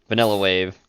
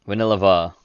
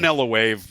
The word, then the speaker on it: Villeneuve: Now, Dennis Villeneuve, Yeah, Vanilla Wave, fucking Jenny taught us how to pronounce it at one point, but Vanilla Va. I always call it Vanillava. It's not V- how. She said I was putting too many syllables in there, but It doesn't I matter.